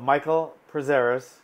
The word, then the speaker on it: Michael Prazeres: Michael Prazeres, that's how you say it.